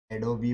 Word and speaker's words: Adobe: तो ब्रिटिश है, एडोबी बोलती है, एडोबी। ब्रिटिश प्रोनाउंसिएशन है, देख ले तू गूगल पे।